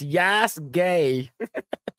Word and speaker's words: Yasuke: Yasuke is pronounced Yas Gay.